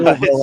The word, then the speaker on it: Louisville: I You can't can't say pronounce Louisville? it right. I even have a shirt that I got at one of the Louder Than Lifes that has every way that you can say saw it. Louisville on, right?